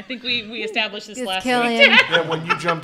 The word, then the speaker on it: Cillian: Cillian. I think we established this last Killian.